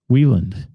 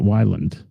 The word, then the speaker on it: Wieland: Wieland, not Weiland.